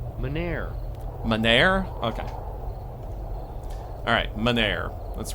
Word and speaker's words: Mynheer: How's it actually pronounced? Meneer.